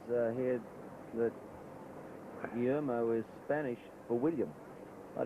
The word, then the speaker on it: Guillermo: Angus Bragg, and from Baldwin, and He worked out how I could pronounce Guillermo correctly, and the first time I tried it, I stumbled over it. Guillermo.